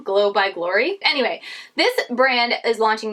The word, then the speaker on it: Glow by Glory: and i think i i pronounce it like globey glory and afterwards i was like katie it was probably glow like glowing glow by glory anyway this brand is